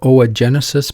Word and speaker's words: Oogenesis: do that first okay so we'll talk about Oh a Genesis pronounce Oh Jen yeah like egg assists or Genesis